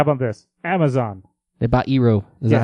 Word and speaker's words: Eero: They bought Eero. Is that how you pronounce that? Yeah, Eero.